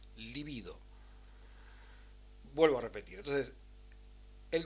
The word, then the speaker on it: libido: pulsiones de metasexual o libido, no líbido, ¿sí? Líbido es una palabra esdrújula, se escribe con B corta y significa otra cosa, libido.